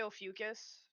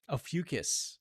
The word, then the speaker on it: Ophiuchus: It's an Ophiuchus. Yeah, it's a hard. I always say Ophiuchus. Ophiuchus. All That's right. how I just pronounced it.